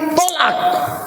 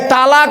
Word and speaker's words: তলাক: যে মেয়ের মা যত বেশি চালাক ওই মেয়ের কপালে তত তাড়াতাড়ি তলাক। এই তালাক নয় তলাক। কোরআনে আছে তালাক শব্দটা এক জায়গায়।